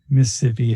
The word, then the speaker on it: Mississippi: huh you know mississippi mississippi if you're really if you're from the south it's a three-syllable word in mississippi it mississippi